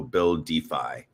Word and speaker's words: BuilDeFi: So um Buildify is spelled Well, you can see it on this stream here, guys, if you're looking, but it's BU LDFI. So build defy.